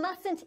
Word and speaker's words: mustn't: more vegetables like celery but when English speakers say the word mustn't they do not pronounce the first sound they do pronounce the sound at the end of the short form of not listen again to Ana's